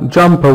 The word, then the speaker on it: jumper: Yeah, jumper. Why? Why? Why? Because of ER. We see ER. It's not pronounced. It's just the schwa sound. Jumper. Jumper. The R is not pronounced. Good.